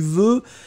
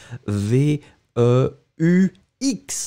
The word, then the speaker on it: veux: Ice cubes, be careful, tu veux, V-E-U. X, hein, remember, we don't pronounce it, but should it should be there.